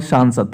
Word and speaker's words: सांसद: सांसद में, संसद और सांसद थोड़ा प्रोनाउंसिएशन, जब सांसद की बात करें थोड़ा उस पर आकर और अनुस्वार आता है, तो थोड़ा उस पर हम ज़्यादा जो है वेटेज रखेंगे, जैसे संसद और सांसद।